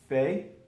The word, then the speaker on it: fait: But this is all pronounced fait, fait, fait, fait, fait, fait. Je fais, tu fais, il fait, elle fait, on fait.